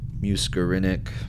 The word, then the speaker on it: muscarinic: Muscarinic pronunciation. Muscarinic.